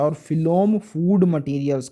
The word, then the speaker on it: phloem: फिलोम में एफ आता है, पीएच एफ की तरह ही प्रोनाउंस करते हैं, और फूड में भी एफ आता है।